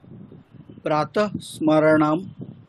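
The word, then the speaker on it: प्रातःस्मरणम्: দেখুন কর্তা উজ্জ্ব আছে প্রাত স্মরণাম করোমি উচ্চারণ কি হবে প্রাতস্মরণাম একসাথে দন্তস্য দেখো বিসর্গ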